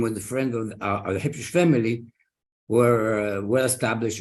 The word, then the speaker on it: Habshush: He was a merchant in Africa, and in Yemen, it's spelled as H-I-B. So it should really be Habshush, Hayyim Habshush.